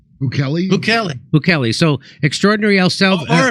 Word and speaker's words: Bukele: Bukele. So extraordinary El Salvador. Or if you're Alex Jones, you can pronounce it Bukele.